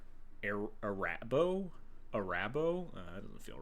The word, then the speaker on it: Arahbo: this one AR arabo I want to say like harabo like the the gummy bears arabo the first Fang which